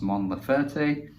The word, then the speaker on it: Mon Laferte: I believe it is pronounced Mon Laferte, probably with a better tone to the voice as you say it than I just did there.